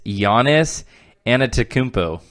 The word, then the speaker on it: Giannis Antetokounmpo: Greek freak that's a sick nickname can you pronounce it it's Giannis antetokounmpo mo see that's something like that they say